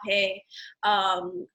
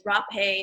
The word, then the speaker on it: rapé: So I myself administer rapé. So rapé, and some people, depending on what culture you're from, there's different pronunciation. Hape. For me, it's rapé.